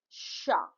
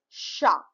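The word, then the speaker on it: chat: Now the letter will become a word as sha. Fine. So T is not pronounced most of the time in French.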